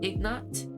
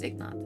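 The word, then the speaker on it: Ignat: His name is Ignot. I g N A T.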